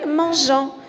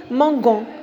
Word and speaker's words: mangeant: Manger, mangeant. Si je ne mets pas le E, je vais prononcer mangon.